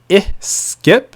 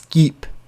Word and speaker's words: skip: thing 22 to skip so make sure you say skip and that's keep the most common error that students make is mispronouncing the sound which is the short vowel i that we have in english so a lot of